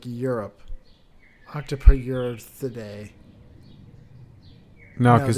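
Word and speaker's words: Octopoteuthidae: Octopoturthidae. No, because it's the T. Octopoturthidae. But the how Octopoth. Yeah, you got to put that T in there. Octopoturthidae.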